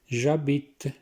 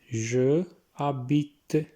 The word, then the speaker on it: j'habite: j'habite, je habite, j'habite। देखिए एच को बीच में साइलेंट किया इसलिए j'habite इकट्ठा पढ़ रहे हैं इसको। je habite नहीं पढ़ना है इसको, ठीक है।